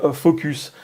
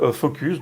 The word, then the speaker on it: Fooocus: parler d'intelligence artificielle avec Focus. Alors ça s'écrit avec 3 O, je pense que ça se prononce comme ça. On avait déjà parlé bien